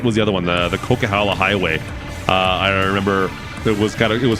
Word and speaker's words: Coquihalla: We were driving through the area, and they're like, "Oh, we're going on the Coquihilla." That's not how you pronounce it. That's not it. The Coquihilla is not how you pronounce that word.